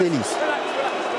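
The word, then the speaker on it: Ellis: Так вот, тренер защитников, его зовут Давид Элис. Это если произносить на французский манер.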